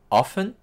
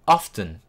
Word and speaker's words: often: utilisé tout au début, often, qui veut dire souvent, ou alors often, avec le T. Vous pouvez le prononcer des deux manières, ça marche dans les deux cas.